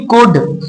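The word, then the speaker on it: could: यहाँ पर जो एल है ये साइलेंट लेटर है, एल की आवाज नहीं आएगी, तो यहाँ पर आप इसे पढ़ेंगे कुड।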